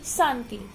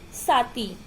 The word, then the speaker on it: शांति: शुद्ध उच्चारण में क्या है, शुद्ध उच्चारण क्या है, कवि, मुनि, शांति। इसका अशुद्ध करेंगे, अशुद्ध उच्चारण स्थान जो अशुद्ध शब्द होगा वो क्या है, कवि, मुनि, साती।